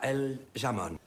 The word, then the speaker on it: jamón: Petit rappel, donc le J, qu'on appelle la J, qui se prononce au niveau de la gorge.